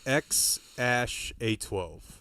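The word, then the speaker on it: X Æ A-12: X um and then the AE is like pronounced Ash um Rogen just laughing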